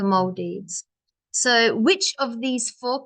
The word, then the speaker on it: Maldives: should say the Maldives actually pronunciation is the Maldives so which of these